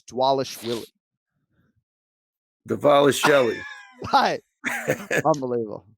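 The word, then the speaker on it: Dvalishvili: he's your fighter uh the bees are pronounced as w so it's dwallish willie the vile is shelley unbelievable wow that's way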